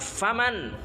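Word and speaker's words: فمن: Fim di dalam orang itu bukan fiman bacanya, yang benar faman syaa falyastaksir wa man syaa falyastaqlil wassalatu khairun kulluha.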